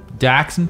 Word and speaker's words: Dachshund: Dachshund? Don't laugh at that pronunciation, Ross. That's correct. Bastard. That's correct, yeah.